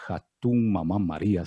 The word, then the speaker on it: Hatun Mama María: grupo de danza nacional Hatun Mamá María, si no lo pronuncié mal, mi estimado Wilson. Cuéntenos respecto a esta agrupación. Muchas gracias, Ramiro. Sí, estuvo bien pronunciado.